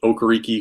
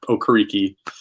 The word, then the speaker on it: Okereke: Beyond that, beyond just him and Okereke, who we've talked at length about, or sorry, not Okereke, it's Okereke.